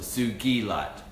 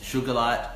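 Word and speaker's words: sugilite: crystal named after me I would want to pronounce properly as well as a suji light not like D as in geese not sugar light or cycle I threw out that it's got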